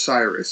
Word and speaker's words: Cyrus: fantastic author, international master, Cyrus Lakdawala. Cyrus has written many chess books. How many, actually, have you written? I couldn't find an exact count. It's 61. My name, by the way, is pronounced Cyrus.